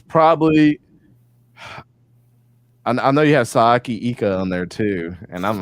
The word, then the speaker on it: Siaki Ika: Sayaki Ika.